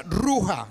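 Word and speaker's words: רוח: viene de una expresión judía judía que se pronuncia roja dios te roja qué significa viento cuando se habla del espíritu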